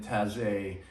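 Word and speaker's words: Taizé: that this uh chant comes from the tassie community that's spelled t-a-i-z-e and it's an ecumenical monastic order in taze which is in burgundy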